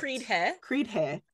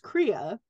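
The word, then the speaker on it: cridhe: Well, there's a whole thing about fated mates and what are called Kriya. It's C-R-I-D-H-E, and that means so heart. Creed-he. But it's pronounced Kriya, and it's means heart, and it is the term for fated mates.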